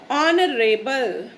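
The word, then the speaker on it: honorable: ऑनरेबल, ऑनरेबल, इसमें भी H जो है वो साइलेंट होता है। ठीक है, तो अगर आप इस वर्ड को प्रोनाउंस करेंगे यानी आप बोलेंगे तो इसको इसमें H की साउंड नहीं आती, ये वर्ड स्टार्ट होता है O से, O की साउंड से एक्चुअली।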